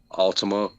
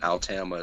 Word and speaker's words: Altama: Altima, but Altama is how that's how they told me you pronounce it, because I kept Okay. calling them Altima. They were like, it's Altama.